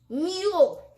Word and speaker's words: mule: Our first word is Mule. remember that sometimes when there are two vowels in a word, the second vowel makes the first vowel say its name and the second vowel is silent.